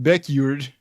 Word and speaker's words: Beckjord: I don't think that's how you pronounce it. Beckjord. it's Beckjord. John Eric Beckjord.